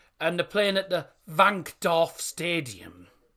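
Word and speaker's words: Wankdorf: they're playing at the van do Stadium I said it correctly because the W is actually pronounced as a v but everyone calls it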